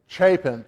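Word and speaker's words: Chapin: Chapen.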